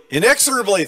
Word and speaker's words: inexorably: Inexorably, thank you. I had the wrong accent on the proper syllable.